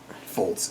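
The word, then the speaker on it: Fultz: whereas who knows what fols it's fults right it's pronounced fults fults I I this is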